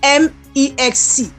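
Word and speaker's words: MEXC: Mexi Mex exchange it's it's spelled m ex C some call it Mex C some call it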